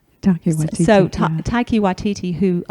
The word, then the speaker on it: Taika Waititi: It's also one of let me make sure I'm pronouncing it, Taiki Waititi's. Taika Waititi, So yeah.